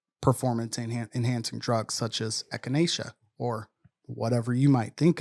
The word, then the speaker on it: echinacea: being tested for performance enhancing drugs such as echinacea or whatever you might think of? Horny goat's weed. I hope that's how it's pronounced.